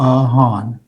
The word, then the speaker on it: Han: Sorry Mr mayor it's pronounced just like it's spelled Han.